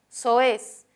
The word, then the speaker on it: soez: Hay un hiato aquí, dos vocales abiertas se separan, hay dos sílabas. La mayor fuerza de voz está en la última, pero soez termina en Z.